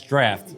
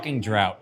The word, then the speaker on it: Draught: wanted to address is that it's draft it's not drought drought is spelled with a god damn i can't